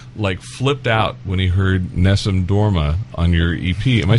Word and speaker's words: Nessun Dorma: Al flipped out when he heard Nessun Dorma on your EP. Am I saying it right? Yeah, Nessun Dorma.